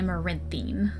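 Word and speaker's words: Amaranthine: also points out that a Moran theme is pronounced more like a more in theme Josh then goes on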